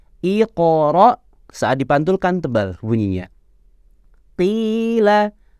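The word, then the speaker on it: قيل: Qila, bukan kila, tapi qila.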